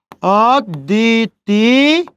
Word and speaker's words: অদ্বিতীয়: ঠিক আছে, শব্দের মাঝে দর সাথে ব ফলা যুক্ত হয়েছে, ওই জন্য দয়ের উচ্চারণ কয়বার হয়েছে? 2 বার। আদ দি, তার সাথে দীর্ঘই ছিল, হ্রাস্বই হবে। অদ্বিতীয়।